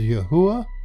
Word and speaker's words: Yahweh: actual Hebrew equals yod he V he we pronounce that as Yahweh and it comes from the concordance h 3068